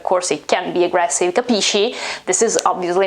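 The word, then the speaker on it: capisci: more similar to dialects but in italy it's not i mean it is kapishi and it's absolutely not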